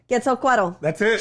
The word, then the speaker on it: Quetzalcoatl: Quetzalcoatl. That's it.